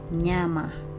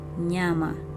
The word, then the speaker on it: nyama: So N and Y, in Swahili, it's never a separate syllable, okay? It's not a separate syllable. So for this example, you'd say nyama, nyama.